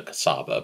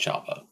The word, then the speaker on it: Csaba: review of the well I've been told to pronounce this thing is Chaba I hope I'm not butchering that because I've never tried to pronounce it properly I just called it a cassava but apparently it's pronounced Java before I begin in